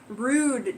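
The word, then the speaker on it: Rood: Also known as Walpurgisnacht, sounds German, Rude Day, R-O-O-D, Rude Day, Rudemas, R-U-D-E-M-A-S, and May Day.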